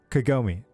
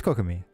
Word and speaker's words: Kokomi: me or why do I keep saying her name wrong it's uh Kagome wait no it is kokomi ignore me okay and then we've got